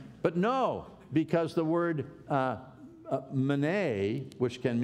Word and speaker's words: Mene: And it's these words that most people pronounce, meeny, meeny, tekel, upharsin. It's actually mene, mene, tekel, pharsin.